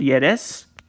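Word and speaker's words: Ե: the bottom line guys when yetch is in the initial position position it is pronounced as ye middle position pronounced as e and the wherever wherever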